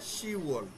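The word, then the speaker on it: 시월: October কি আছে, শিবওয়াল, শিবওয়ালের জায়গায় কি আছে, শিওয়াল। এখানে বিয়কটা নাই, শিওয়াল। এই দুটাই ব্যতিক্রম, এই দুটো একটু খেয়াল রাখবেন। 6 নম্বর মাসে ইউগোয়ালের জায়গায় ইউওয়াল, আর 10 নম্বর মাসে শিবওয়ালের জায়গায় শিওয়াল।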